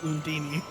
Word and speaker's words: Undine: I seek a path with Undine. As things stand now, Is I that a cannot. line? I forgot they pronounce it Undini.